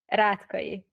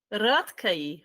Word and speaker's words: Rátkai: Is that a correct pronunciation? Yeah, we can say so. Yeah. How do you say it? Rátkai. Rátkai.